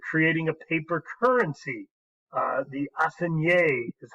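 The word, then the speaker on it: assignat: The assignée is how it's pronounced.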